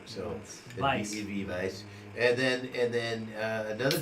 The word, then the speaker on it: Weizen: tips we because of the W sound is a v sound it's a German so Vice and then and then